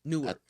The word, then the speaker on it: Newark: So one thing a lot of people don't know about Newark is that Newark was Newark. yeah. I never heard nobody pronounce it with a W.